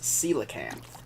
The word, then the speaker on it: coelacanth: learned how to say it now they are pronounced coelacanth those rare dinosaur like fish that only come